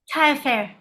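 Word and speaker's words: Tailleferre: Is it pronounced Taillefer? Taillefer, yes.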